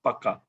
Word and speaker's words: pukka: So we pronounce it as pukka. P-A-K-K-A. So in English, it's written as P-U-K-K-A. Pukka. Yeah, pukka. That's pronounced.